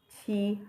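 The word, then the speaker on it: 七: Qi is even pronounced like you're saying T.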